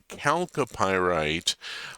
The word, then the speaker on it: chalcopyrite: It is chalcocite and chalcopyrite, hard CH like chaos because of the Greek root.